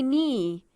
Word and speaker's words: knee: an initial silent digraph where the K is silent read the words aloud and remember to keep the K silent mmm me Neal nice not let's read together I knocked my knee it is hard for